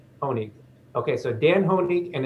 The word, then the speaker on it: Honig: Is that the right pronunciation, Dan? Yeah, that's right. Honig.